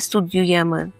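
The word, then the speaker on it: studiuje: студюєче і оні студюй при вимові цього слова Я думаю ви зауважили що дуже цікаво от вимовляється частинка д і у загалом мало би воно читатися як дю так оскільки і у як м'яко ю але чомусь у цьому слові ми маємо таку роздільну вимову Ви чуєте так студйовач студює так ніби після букви д є апостроф і ю студює тому будьте обережні при вимові можемо студовать на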